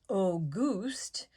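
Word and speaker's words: Auguste: to be the aga a goose pronounced oh goost wears garish clothing several sizes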